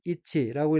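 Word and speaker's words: 一致: 두 째 줄 첫 번째 어는 한자가 일치이고 일본어로는 이치라고 읽으면 이치는 일치 어긋나지 않는 것 마음을 같이 하는 것이란 뜻에 명사투는 수루 자동사입니다.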